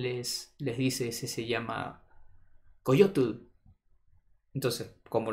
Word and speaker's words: coyotl: Él les dice, ese se llama Coyotl. Entonces, como los españoles no están acostumbrados a pronunciar la T y la L, Coyotl, entonces decían, coyote.